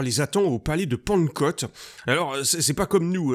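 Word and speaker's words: Pankot: le croyais parce que ça se prononce vraiment de la même façon.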